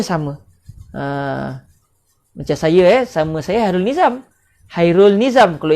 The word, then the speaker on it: Hairul Nizam: Macam saya sama saya Hairul Nizam. Hairul Nizam. Kalau ejaan Umi, Hairul Nizam. Kalau ejaan Jawi, Khairul Nizam. Kan beza? Orang Melayu panggil Hairul Nizam. Orang Arab panggil Khairul Nizam.